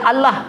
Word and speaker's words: الله: Enggak kan bacanya alam tapi Allah gak dibaca Allah dibacanya Allah berbeda dengan tulisan cuma satu-satunya dalam bahasa